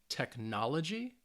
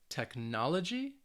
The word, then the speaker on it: technology: gy the cal um and you can see that the stress is on the third to last syllable which means for these words it's on the second syllable so let's say these